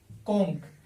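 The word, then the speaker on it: conch: फिर जैसे कोंक, कोंक का तो था शंख, सी एच है लेकिन इसका उच्चारण क होता है तो इसका बहुवचन क्या बनेगा?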